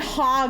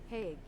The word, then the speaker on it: Hague: I sound like I'm saying hog like a pig. I need to look up how to pronounce this. How to pronounce hog. Oh, wait, wait. Hague. Oh, Hague! Hague.